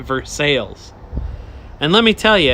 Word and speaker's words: Versailles: In Kentucky, there's a town, it should be pronounced Versailles, like in France, like the Versailles Treaty, but they pronounce it phonetically, so they call it Versailles.